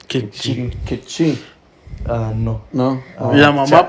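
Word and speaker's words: Q'eqchi': ¿Puedes hablar Kikche? ¿O cómo se dice? Kikchi.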